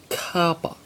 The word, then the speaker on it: kappa: the y cell now the next letter is kappa kappa if you think of cops and copper even though there is